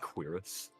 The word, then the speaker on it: cuirass: pronounced cuirass.